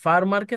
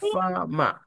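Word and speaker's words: farmer: উচ্চারণে ফা ফামা মানে ফার্মারকে তারা এই যে দুইটা আর এফ আর এম ই আর ফার্মারের উচ্চারণে তারা ফামা এরকম উচ্চারণ করে আর আমেরিকানদের উচ্চারণ ফারমার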